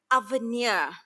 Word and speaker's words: Avenir: it's a French name it's a French name like please help us pronounce this name Avenir holdings and the word avenue means future I love that